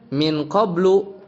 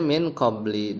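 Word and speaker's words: مِنْ قَبْلِ: Jadi Jadi bukan dibaca min qablu kayak di teks tadi, tapi dibacanya min qabli dengan khafat tanpa tanwin.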